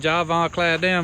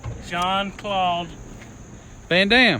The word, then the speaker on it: Jean-Claude Van Damme: I've been watching Javon Claudel movies.